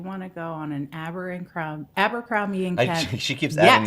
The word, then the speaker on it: Abercrombie: But the whole Abercrombie and Kent story seems like, something out of an old book.